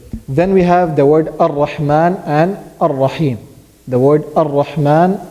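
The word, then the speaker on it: الرحمن: Ar-Rahman. Hamzat al-Wasl. Hamza al-Wasl. Good. Hamzat al-Wasl. So, is it always pronounced? No. No, it's not always pronounced. It is only pronounced if we start with it.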